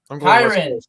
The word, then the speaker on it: Kyren: I'm going Kieran Williams. Kyren. Jesus it's Kyren.